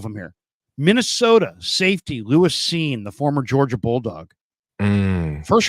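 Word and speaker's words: Cine: And Seen and that's how it's pronounced, Seen.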